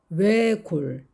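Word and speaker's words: 외곬: 외골, 외골. 역시 앞에 있는 리을 받침은 발음이 되고 시옷은 탈락이 되었습니다.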